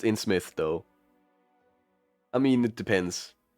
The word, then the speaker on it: Innsmouth: singers we're playing the in Smith's case today which is supposed to be a somewhat spoopy game yeah it is pronounced in Smith though I mean it